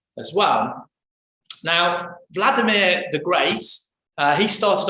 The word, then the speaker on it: Vladimir: was a man called vladimir the great that's how you pronounce his name if you're a russian if you're a ukrainian